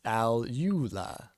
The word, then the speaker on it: alula: to Rue L's name comes from the term alula in Zoology which refers to a group of small stiff feathers in the first digit of a bird's Wing hey it's pronounced alula see also called bastard Wings Furious Wing the